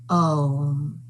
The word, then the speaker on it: Om: It comprises 3 sounds, A, U, and M, Om.